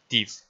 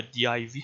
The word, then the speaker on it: div: میبینید div یا div هم میخوننش، حالا به هر شکلی که خودتون تمایل دارید تلفظش کنید.